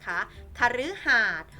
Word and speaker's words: คฤหาสน์: นะ คะ ถูก ต้อง ถ้า เป็น คำ ว่า คฤหาสน์ นะ คะ คฤหาสน์ ออก เสียง รึ นะ คะ ทำ นี้